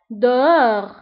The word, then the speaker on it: dehors: Dehors. Dehors. Dehors. أيضا dehors كنكتبوها بS في آخر الكلمة ولكن ما كنطقوهاش.